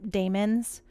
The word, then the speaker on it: daemons: Exodus released a video on silicates and like They're called Ah. daemons. Oh, Um, daemons. Okay, my bad. I thought it was yeah, demons. that's how the devs pronounced them.